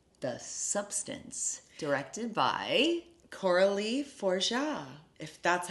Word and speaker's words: Fargeat: pronounce it I mean if I was going to pronounce it by the way it is spelled I would say farg eat but I think it's forja I think it is too